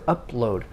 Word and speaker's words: upload: english the two consonants the p and the l need to be distinct upload so of course